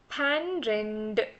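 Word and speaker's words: பன்னிரண்டு: It's pan. Pan. പന്ത്രണ്ട്. But don't pronounce exactly like a pan. Say പന്ത്രണ്ട്. Just cut the pan short and say പന്ത്രണ്ട്. പന്ത്രണ്ട്.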